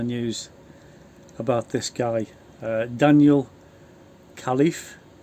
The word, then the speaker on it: Khalife: He's only 21, and he was probably getting picked on with a name like Khalife. That's how you pronounce it.